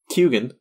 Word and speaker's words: Keoghan: But yeah, I watched interviews where he literally says it's pronounced Keoghan or something. I think it's Keoghan. He says that the G is in there. He pronounces the G.